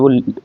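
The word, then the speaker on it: woe: ठीक है नेक्स्ट है अब इसे प्रोनाउंस कैसे करेंगे डब्लू ओ ई वो इसे कहते देखिए जब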